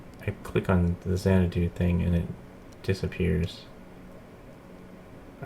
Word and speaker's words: Xanadu: Xanadu.